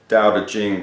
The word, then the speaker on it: Tao Te Ching: why a book that is the title is daodejing but it's spelt ta o te CH ing it is